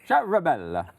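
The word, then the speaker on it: Ciaramella: Charamella.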